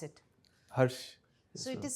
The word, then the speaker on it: Herrsh: Herrsh, Yes, how do you pronounce it? Herrsh.